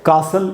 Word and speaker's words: castle: तो ये है कासल, इसमें ची साइलेंट है।